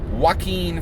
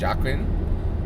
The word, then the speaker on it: Joaquin: Okay, we're going to talk about Joaquin Phoenix today. I had gotten that pronunciation wrong. I had said Joaquin, right? And it is correctly pronounced Joaquin, right?